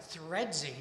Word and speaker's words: Threadsy: Now, the spelling of it, Threadsy, T H ree, is meant to rhyme with my favorite street name in Chicago, which is Kedzy.